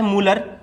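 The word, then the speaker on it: Mulder: Protein के खोजकर्ता है मूलर। कौन है, मूलर। यहां पर डी प्यारे दोस्तों क्या होगा, साइलेंट होगा।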